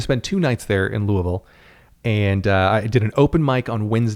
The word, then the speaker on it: Louisville: a week in louisville don't try to pronounce it louisville you will get shunned in the friendliest way possible because folks are pretty nice there but it's still louisville we uh the plan